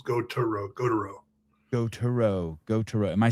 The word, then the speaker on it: Gautereaux: Gautereaux. Go. Yes, but there's E. Go. So it's Gautereaux.